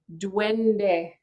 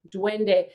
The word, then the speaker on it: duende: and that word in flamenco is duende so it's spelled d-u-e-n as in nancy uh d-e duende duende and it it's basically flamenco for you know